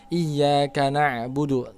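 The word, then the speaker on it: إياك نعبد: Iya kak ya ingat disitu hanya bertasydid jangan bacanya Iya kak tapi Iya Kak kemudian na'budu disitu ada huruf Ain bukan hamzah Jadi baca Jangan Iya karena bulu tapi iyyaka nabudu dan harus mengalir ya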